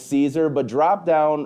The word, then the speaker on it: Caesar: remember how to actually say it, that it's Caesar. But drop down wrong answers only, how you've seen Caesar pronounced, how you've had people text you Caesar is pronounced.